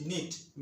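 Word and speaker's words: knit: আবার বলছি, ইংরেজি শব্দের শুরুতে কে-এন থাকলে কে-এন এর উচ্চারণ দন্তন্য হবে।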